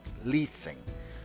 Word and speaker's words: listen: Estás acordado muy bien la no se pronuncia es muda Listen complete that numbers vamos